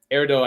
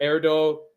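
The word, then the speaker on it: Erdő: So, uh, Peter Erdo, Erdo, I think is how you pronounce that.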